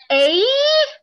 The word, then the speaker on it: eight: When we see E-I-G-H, we spell it A, like the letter A. Yes. So eight. E-I-G-H spelled as eight.